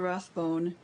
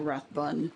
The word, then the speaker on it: Rathbone: okay um and then basil rathbone or rathbun depending on how you want to pronounce it um he did sherlock